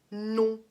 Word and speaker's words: nom: Non. То есть это носовой звук. Пишется nom, но произносится non.